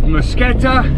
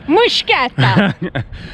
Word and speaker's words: Mtskheta: A Georgian told me how to say it, and I know it's completely wrong because I don't have the accent, but it's something like that. Mtskheta!